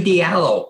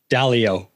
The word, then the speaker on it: Dalio: anything and you know ray diallo who's uh mispronounced his name i i butchered dalio dalio okay you know he has